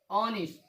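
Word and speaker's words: honest: इसका उच्चारण हम नहीं करेंगे यच का। इसको हम हॉवर नहीं पढ़ेंगे, क्या पढ़ेंगे, और, ऑनर, ऑनेस्ट, ऑनरेबल।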